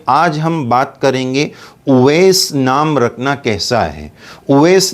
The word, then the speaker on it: اویس: یہ نام ہے اویس۔ آج کل بہت سارے لوگ اس کو غلط بولتے ہیں، اویس بولتے ہیں، آویش خان بولتے ہیں۔ جیسا کہ کوئی کرکٹر ہے، اس کا نام بھی اسی طرح بولا جاتا ہے۔ تو بہرحال یہ صحیح ہے اویس، اویس اس طرح اس کا تلفظ کیا جائے۔ نام کے سلسلے میں